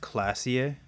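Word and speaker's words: Klaasje: of tips so i do know this is pronounced classier miss oranie disco dancer her eyes are brown and her face is speckled with birthmarks she can't be more than 28.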